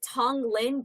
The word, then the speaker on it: Tonglen: They show me the Tonglen breathing breathing practice.